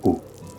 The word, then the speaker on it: Å: village de pêcheurs de Haut, qui s'écrit A avec un petit rond au-dessus du A, mais qui en réalité se prononce O.